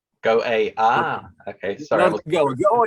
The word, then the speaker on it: Go_A: music and ukrainian culture yeah and it is pronounced go a go ah okay sorry oh it's a state in india gaway is us that's what i always thought go